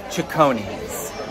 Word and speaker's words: Cecconi's: server I was like how do you pronounce this restaurant and she said chonis I've been saying like saon sichon Chon and at this point in